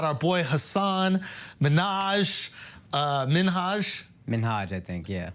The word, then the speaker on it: Minhaj: comes up about our boy Hassan Minaj uh minhaj minhaj I think yeah how do we even